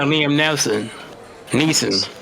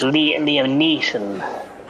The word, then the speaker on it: Liam Neeson: She's the female Liam Neeson. You're pronouncing it wrong. It's Liam Neeson.